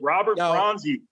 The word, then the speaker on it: Robert Bronzi: Robert Bronzi.